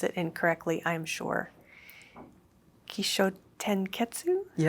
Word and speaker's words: Kishōtenketsu: I'm going to pronounce it incorrectly, I'm sure. Kisho tenetsu. Yeah. Kotenetsu.